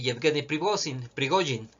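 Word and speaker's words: Yevgeny Prigozhin: camarada Salvador al respecto es un bulo de jetgani privosing que es la manera correcta de pronunciarlos según Tengo entendido pregojin el jefe de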